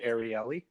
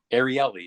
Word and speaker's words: Ariely: how do you say the way i've heard it pronounced is ariely ariely okay he's he's the